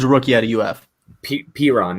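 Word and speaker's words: Perine: as well, and that's Perini, right? Mm-hmm. Yeah, LaMichael Piron from he's a rookie out of UF. Piron, that's how you say his name.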